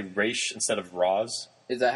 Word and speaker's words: Ra's: and he says, "Oh, how's your father, Ra's?" And she's like, "It's pronounced Raish."